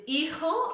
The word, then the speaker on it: hijo: or daughter to you, is hijo or hija, okay, that H is silent, hijo or hija, y